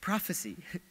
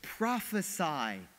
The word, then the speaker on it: prophesy: Seattle, celebrating this, and some were saying, prophecy. No, it's a command, it's a verb. They're saying, prophesy as they strike him.